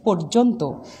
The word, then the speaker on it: পর্যন্ত: লিখছি শব্দটা উচ্চারণ হবে পর্যন্ত, পর্যবেক্ষণ শব্দটার উচ্চারণ হবে পর্যবেক্ষণ। তার মানে রেফের আগে অয়ের উচ্চারণ ওয়ের মতো হবে।